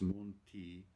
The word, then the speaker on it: monti: It's monti to rhyme with fonti in the next phrase.